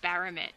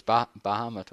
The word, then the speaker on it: Bahamut: I was calling him Baramet. There's not even an R in it, but in my head I'd just been calling him the name wrong for years.